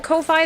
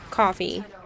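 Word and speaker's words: Ko-fi: a cup of coffee if you want to call a Kofi that's fine but it was originally coffee cuz people were making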